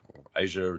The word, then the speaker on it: Azure: in the cloud um otherwise known as azure or asia depending on what your pronunciation is uh so there's